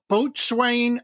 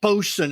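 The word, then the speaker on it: boatswain: the model wife it's called boat Swain American IPA India Pale Ale from Bo well bosen is the way it's supposed to be pronounced for you Navy guys and Rin llander Brewing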